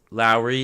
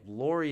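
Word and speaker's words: Lauri: Not Kyle Lowry, Lowry Markkanen. That's actually how you pronounce his name. Lowry is not right. For whatever reason, most people call him Lowry.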